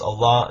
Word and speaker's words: Allah: aramaic and arabic and in arabic it's pronounced allah that it means god